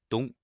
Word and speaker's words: 冬: In today's video, we'll teach you the Chinese character for winter, pronunciation, dong.